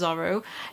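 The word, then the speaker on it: Zoro: to address first i was pronouncing dora verona's name wrong so his name is zorro and due to like some copyright or something with disney so okay i'm gonna say zorro from now on but not mistake obviously if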